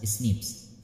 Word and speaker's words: SNPs: Ninth point is scientists have identified about 1.4 million locations where single base differences, that is single nucleotide polymorphism, pronounced as SNPs, full form SNPs, occurs in humans.